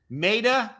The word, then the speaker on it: Maida Vale: Maida Vale. V-A-L-E. Oh, Maida. How do you spell Maida? Like a maiden.